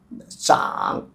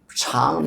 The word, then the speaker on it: 長: Let it to full grow, zhǎng. Also it can be pronounced as another cháng means long.